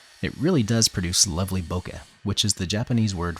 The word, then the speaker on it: bokeh: area of the shot some people pronounce it bouquet but since that's a word that means a flower arrangement in English I avoid it the Japanese word has